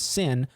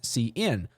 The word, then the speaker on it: cin: So you don't want to pronounce this cout and you don't want to pronounce this sin. You want to say cout, cin.